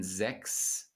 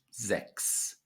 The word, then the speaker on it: sechs: the CH in sechs is pronounced like a K.